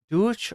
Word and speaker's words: Deutsch: to get to sleep douch or Deutch yeah Deutsch is like the ger is actual in German it's like deuts but like I somebody